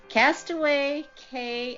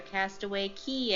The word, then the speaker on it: Castaway Cay: the Disney Cruise Line Castaway Cay activities or castaway key activities however you want to pronounce it you will be treated